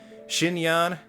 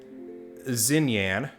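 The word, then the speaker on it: Xinyan: gentian impact content and murder birds pronounces her name zinyan while my two years of chinese that i took in high school says that it should be pronounced shin yan so while i do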